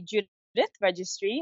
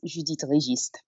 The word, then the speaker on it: Judithe Registre: So the English version would be Judithe Registre. Mm-hmm. However, growing up, it was the proper, since it's Creole French based, Judithe Registre.